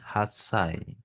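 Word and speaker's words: 八歳: 8 itu kalau angka Del itu haci Kalau digabungkan dengan usia dia menjadi hasai kalau angka satu itu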